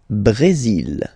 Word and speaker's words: Brésil: Le Brésil. Le Brésil. Okay, you will pronounce the final L here.